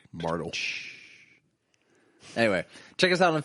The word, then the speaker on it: Martelle: Yeah, like the E in my last name. Call back. Martel.